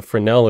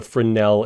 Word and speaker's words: Fresnel: And unfortunately, because the guy was French, it's spelled Fresnel. Or I guess you could say unfortunately because I'm American, I just read it wrong.